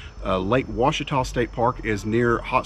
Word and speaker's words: Ouachita: today we are at Lake Ouachita State Park in Arkansas and yes that is the correct way to pronounce that according to the brochure and locals in the area Lake Ouachita state park is near